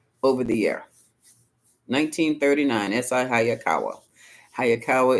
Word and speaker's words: Hayakawa: the year 1939 sakawa hayakawa is spelled exactly like it sounds how anyway so on